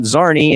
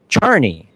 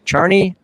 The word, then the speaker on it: Czarni: It's not Yaslo, it's Yazwo, it's not Zarnney, it's Charnie. Charnie Yazwo. It is Polish in derivation.